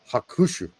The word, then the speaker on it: Hakushu: speak it correctly because you're not supposed to say like ha kushu, like that. And even a slight influx means you're putting more emphasis on one syllable. Yeah. And so it's hakushu. It just flat straight, and it's very, very difficult.